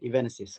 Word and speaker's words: EVENESIS: Did I pronounce it right, Mr. Yusno? Yes, you got it EVENESIS. right. EVENESIS, Yeah, correct.